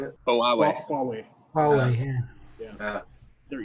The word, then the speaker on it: Huawei: It's just a Howie. How's how you say it? Huawei.